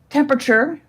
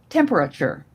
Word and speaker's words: temperature: Okay, the next word has an alternate pronunciation. I'm not required to give you both, but I will. It is temperature or temperature.